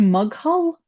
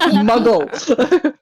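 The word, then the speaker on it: Maghull: When I first got here, there was someone who messaged asking if we could transport things to Mughal, which is spelled Mug Mughull. Mhm. So I said, "Can we can we transport things to Mughal?" And they're like, "What the fuck did you just say, you posh git?" Muggle.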